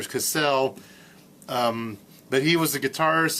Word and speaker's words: Casale: I believe it's pronounced Casale or Cassell.